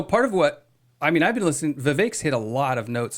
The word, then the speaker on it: Vivek: Vivek. Rhymes with cake.